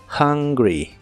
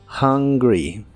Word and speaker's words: hungry: tener hambre en inglés la H se pronuncia como una J suave y la u se pronuncia como a en esta palabra hungry hungry y usaremos la descripción